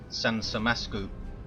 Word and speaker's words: 산삼맛쿠우: nothing too mental and they said it should be pronounced sansam masu so that's what we'll